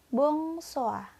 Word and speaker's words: bonsoir: Tulisannya bonsoir, tapi dibacanya bonsoir.